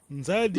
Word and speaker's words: Nzadi: Província do Zaire foi a má pronúncia do Diogo Cão, tá bem? Nzadi, que é Rio Grande.